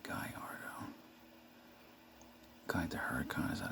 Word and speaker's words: Gallardo: gallardo and i used to think it was gallardo but it's actually pronouncing guyardo kind the huracan is that a hurricane it's